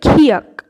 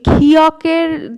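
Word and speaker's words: 키읔: তো নেক্সট যেটা আছে সেটা হচ্ছে খিয়াক। খিয়াকের উচ্চারণটা কিভাবে করবেন, ক আর খ যদি একসাথে উচ্চারণ করেন, খ খ, ক আর খ একসাথে উচ্চারণ করুন তাহলে বুঝতে পারবেন একদম খিয়াকের সেরম উচ্চারণ হবে।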